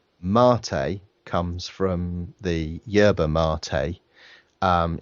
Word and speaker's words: MATE: um it is pronounced Marte uh as if you were ordering a latte so that's the that's